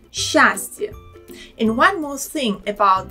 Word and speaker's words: счастье: It's a little bit difficult to say it like счастье and move the tongue from a position for a sound s to ch. Much better and easier pronounce it when the tongue slides with sh sound, счастье.